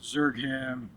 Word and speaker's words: Zergham: I should have Uh my name is Zergham. Zergham? Yeah. Okay. Maybe you need to help me spell that out later.